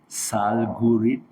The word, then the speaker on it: Salgurid: How do you pronounce Salgurid? Salgurid, you say Salgurid.